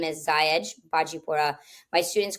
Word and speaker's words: Xahej: with the letter X and having a unique pronunciation, Xahej. So the name is Xahej Bajipura.